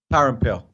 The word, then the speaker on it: Parampil: Parampil.